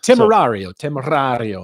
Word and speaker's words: Temerario: Temerario.